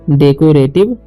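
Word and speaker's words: decorative: okay, रेटिव, RATIV से रेटिव, राटिव नहीं पढ़ना है, रेटिव पढ़ना है, ठीक है, रेटिव, तो डेकोरेटिव लाइट्स, ठीक है, GH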